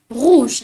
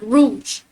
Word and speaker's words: rouge: we pronounce it as just like Noir you got to pronounce rou with your throat rou not Rouge all right and blue